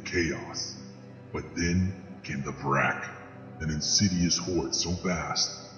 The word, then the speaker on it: Vrak: So let's break down the Vark. Did I pronounce that correctly? The Vrak.